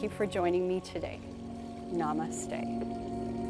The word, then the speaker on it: namaste: Namaste is how we end the class, and it's spelled N-A-M-A-S-T-E.